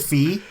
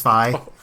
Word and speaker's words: Fi: is it fi yeah I always said fee but apparently it's supposed to be like WiFi like that's the idea so it's fi and also na'vi or